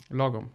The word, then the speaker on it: lagom: Lagom? Lagom. Lagom. It depends on your accent, of course, but lagom is Lagom.